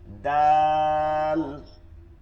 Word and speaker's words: د: আচ্ছা, দাল দল, দালটা হচ্ছে শক্ত চিকন, দাল হচ্ছে শক্ত আর চিকন, আর দল হচ্ছে নরম এবং মোটা, নরম এবং মোটা। দাল, ضاد ضاد دال ضاد